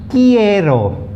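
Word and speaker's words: quiero: question about what okay now the q uis kiero kiero means i want it comes from the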